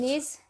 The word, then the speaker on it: Diogenes: Diogenes.